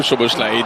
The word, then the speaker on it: Szoboszlai: Oh, Szoboszlai dans le dos de match, je le prononce très bien, Szoboszlai, puisque c'est lui qui